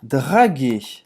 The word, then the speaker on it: draguer: Paquerar, o verbo é draguer. Draguer. Paquerar, draguer. Ou seja, não pronuncia esse R no final, tá?